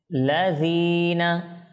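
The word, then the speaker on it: الذين: করতে হবে আমাদেরকে এরপর জাল এটা যেন সঠিক উচ্চারণ হয় এটা যেন যা না হয় সেদিকে লক্ষ্য রাখতে হবে এরপর জেরের পরে ইয়া সাকিন এক আলিফ মদ এখানে করতে হবে কেমন লাজিনা কেমন এক আলিফ মদ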